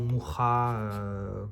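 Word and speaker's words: Mucha: Parce qu'à l'inverse d'un créateur comme Moucha ou Moucha, comme on est censé de mémoire le prononcer en tchèque, hein, puisqu'il était tchèque de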